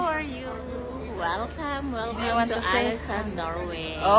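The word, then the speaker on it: Ålesund: Welcome welcome to Alisan Norway. Oh yes, that's the correct ano pronunciation.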